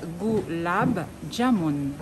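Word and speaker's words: gulab jamun: Alors, on va bien prononcer, donc, pour que monsieur Jean-Claude comprenne bien. Donc, voilà. On va lire goulab jamoun.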